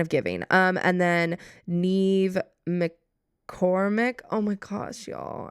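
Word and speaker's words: Niamh: Name pronunciation. Okay. For I'm pretty sure it's Ne. Please be Neve.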